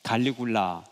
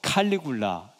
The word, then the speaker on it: 칼리굴라: 디베리오 그다음에 37년에서 41년 갈리굴라. 디베리오도 원래는 티베리우스 이렇게 되는 거죠. 그다음에 갈리굴라도 칼리굴라 이렇게도 발음하고 갈리굴라 우리 옛날 발음식으로.